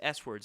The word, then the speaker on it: Swords: Angus was wondering for album swords was pronounced as swords or his s words I pronounce it as swords um uh uh Derek